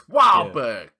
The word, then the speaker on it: Wahlberg: written in bostonian like his name is written phonetically it's wahberg ew wow but a